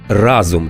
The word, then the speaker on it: разом: калькують з російської далі якщо ви вагались разом чи разом то ось рецепт пригадуйте помаранчеву революцію Євробачення та Гринджоли і їхню пісню Разом нас багато Разом нас багато нас не подолати Разом нас багато разом наголос на перший склад далі про дуже популярну